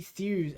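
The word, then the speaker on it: thews: His mighty thus.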